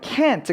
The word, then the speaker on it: can't: 그것과 다르게 이제 부정형 can't 같은 경우에는 T 발음은 잘 들리지 않는다 하더라도 먼저는 모음 자체가 에 소리를 완벽하게 내주게 됩니다. 그리고 그것과 함께 여러분들이 또 하나 기억하실 만한 것은 이 부정형에는 분명히 강세가 들어가게 된다는 건데 조금 더 큰 그림을 한번 보자면요.